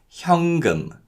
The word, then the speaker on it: 현금: cash in Korean is 현금, 현금. And in terms of pronunciation, because of nasalization, the 니은 받침 in 현 is pronounced as an 이응 sound. So it's not 현금, but it's 현금, 현금.